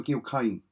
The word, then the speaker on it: Gil Kane: this looks like another Gil Kane or Jill Kane however you pronounce his name I say Gil because it's G oh Hercules action now